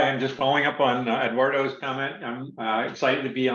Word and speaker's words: Eduardo: Yeah, so it's Eduardo. The rest doesn't matter, and you can roll the R or not. But